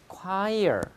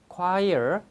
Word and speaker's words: choir: 근데 밑에는 발음 자체가 choir, 합창단이죠. 이게 코러스입니다. 코러스. 헷갈리지 마세요. 발음 잘하세요. choir, choir, choir.